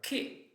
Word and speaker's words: che: So that's the way to have a hard sound when the vowel is E or E. For example, perché, because or why. Or che, the syllable che, C-H-E. Or chi, C-H-I, who.